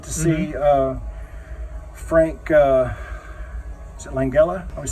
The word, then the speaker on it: Langella: And so, like, I got to see Frank, is it Langella? I always say his name wrong. Frank Langella, yeah, the Langella.